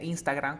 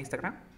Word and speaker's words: Instagram: Es una E que se transforma en A. Mira. Telegram. Telegram. A ver, tú di Telegram. Telegram. Uf, great. ¿Cómo sería? Instagram. ¿Cómo sería Instagram?